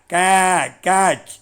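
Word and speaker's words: catch: இந்த கேட்ச் உச்சரிப்பு பாருங்கள், கேவுக்கு பக்கத்தில் 2 புள்ளி கொடுத்துருக்கேன். அப்போ ஆடு கத்துற மாதிரி கேட்ச் அப்படி உச்சரிக்கணும்.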